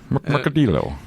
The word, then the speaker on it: Mercadillo: You gotta get the kind of roll in there. The. yeah, it is. Mercadillo. Okay. Mercadillo is the pronunciation. They get that nice little roll in there.